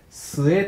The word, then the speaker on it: 末: この発音はですね、末と呼んでください。